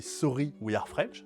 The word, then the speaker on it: Sorry We Are French: Galileo Project, un jeu qui nous vient aussi de chez Sorry We Are French, ça se prononce comme ça, parce qu'il faut le prononcer avec l'accent français, sinon ça marche pas du tout.